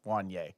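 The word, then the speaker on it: Juanyeh: cornerback I love that ad pronounces the J when it's not supposed to be pronounced and then does it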